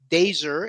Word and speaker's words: DAZR: The band is pronounced DAZR, as in laser DAZR.